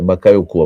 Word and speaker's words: Bakayoko: Não duvide sobre Bacai Bacaiocô, né? Por quê? É bacaiokuô a pronúncia, né?